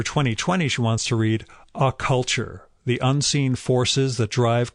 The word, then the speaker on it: Occulture: And for 2020, she wants to read A Culture, The Unseen Forces That Drive Culture Forward by Carl Abrahamson. And that's spelled like occult culture, OCCULTURE.